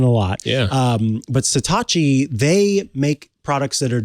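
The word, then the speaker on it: Satechi: about satachi products and yes I promise it's pronounced satachi I guess this question a lot yeah um but satachi they make products that are designed very well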